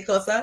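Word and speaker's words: Xhosa: Did you know you have to click to say Kosa? Yes. You have to be able to click to even pronounce the name.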